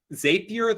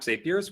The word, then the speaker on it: Zapier: zapier i think please excuse me if i pronounce everything wrong um zapier the point of it is that it lets